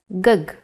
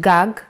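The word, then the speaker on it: גג: see this word written you might want to read it as gug there is no vowel sound in Hebrew the vowels are often not written you would know that this word is pronounced gag because it has been taught to you before and this is why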